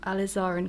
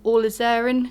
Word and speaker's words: alizarin: a little bit of alizarin crimson or all is aaron crimson or alizarin crimson depending on your preference of how to say it and i am going